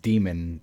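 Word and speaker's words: daemon: and apparently it's pron it is still pronounced demon even though it's Dae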